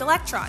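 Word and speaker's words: ἤλεκτρον: ancient Greeks needed amber which in Greek is pronounced electron sound familiar because of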